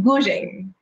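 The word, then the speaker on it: guzheng: We are going to begin with the live musical performance on Gu Zheng. Did I pronounce it correctly?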